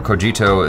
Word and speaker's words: Cogito: Achara pronounces it Sikhism. So this is from Cogito or Cogito, the YouTube channel.